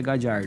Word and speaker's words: Gallardo: E ele se pronuncia Gallardo. Gallardo.